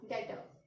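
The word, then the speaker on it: debtor: Next हो गया डेटर. So here also the B is silent.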